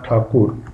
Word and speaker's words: ठाकुर: है पूरा पैसेज रविंद्रनाथ ठाकुर इसमें ठाकुर लिखा है स्टूडेंट्स इसलिए लिखा क्योंकि ये ठाकुर ही थे बाद में अंग्रेजों का जो उच्चारण था बोलने का ठकर ठकर टकोर करके टैगोर हो गया था तो ठाकुर से